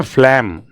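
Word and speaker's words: phlegm: है आपके पहले तो इसको प्रोनाउंस कैसे करेंगे? पढ़ो जरा। जल्दी से इसे पढ़िए। इसको प्रोनाउंस क्या करते हैं? इसको करते हैं फ्लेम। फ्लेम। यह नाक में और जो खांसी के दौरान जो गाढ़ा द्रव्य निकलता है ना उसे कहते हैं फ्लेम। इसका प्रोनाउंसिएशन है फ्लेम।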